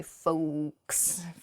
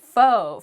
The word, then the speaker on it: faux: next word is faux fo has an x at the end when it's spelled on paper but we do not say folks we don't say that we say fo fo means fake faux